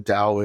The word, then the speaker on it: Tao: audience who don't know what the Dao is it's spelled Tao and I'm going to